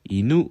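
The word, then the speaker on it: 犬: 저 는 이전 에 " 개 " 를 뜻 하는 한자 를 " 켄 " 으로 읽었는데 , 그것 은 중국식 일본어 발음 입니다 . " 이누 " 는 개 를 뜻 하는 단어 입니다 .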